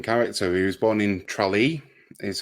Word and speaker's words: Tralee: He was born in Tralee, is how you say it, which is in southwestern Ireland.